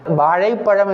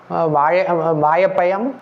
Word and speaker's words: வாழைப்பழம்: வாழைப்பழம் என்பதற்கு வாழைப்பயம், அதே போல வாழைப்பயம் என்றெல்லாம் சொல்லுவார்கள். அர்த்தமே மாறிவிட்டது. வாழைப்பயம் என்று சொல்லவும் கூடாது, வாழைப்பயம் என்று சொல்லக்கூடாது. அப்போ வாழைப்பயம் என்று சொன்னால் அர்த்தமே மாறிவிடும். வாழ்வதற்கு பயம், வாழ்வதற்கு அச்சம் என்று பொருளாகிவிடும். அப்படியெல்லாம் சொல்லக்கூடாது.